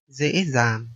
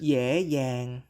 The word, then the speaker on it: dễ dàng: Another difference is that the letter D and the digraph GI are pronounced Z in the north, but Y in the south. For example, this word meaning easy in Northern Vietnamese dễ dàng, and in Southern Vietnamese.